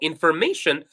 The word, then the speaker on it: information: So information, there is an apostrophe before may, meaning that the stressed syllable is may.